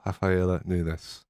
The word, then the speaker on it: Rafaela Nunes: back podcast today i'm joined by the wonderful rafaela nunes hello well done for saying my name right